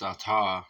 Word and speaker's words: Ata: we get into this it's atar I was right about that so I'm glad that